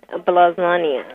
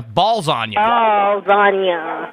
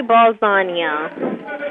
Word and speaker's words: Ballsonya: okay Harry Harry what blow on no not blow on you balls on you balls on balagna can you say my name now Harry balagna that is correct okay you've been selected